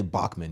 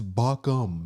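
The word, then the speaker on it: Baucham: you say it okay I say Bachman you guys always roast me it's like it's how this is it's bacham it's how you say it okay I'm sorry gosh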